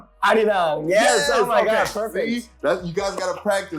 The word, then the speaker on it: Arirang: Arirang, yes.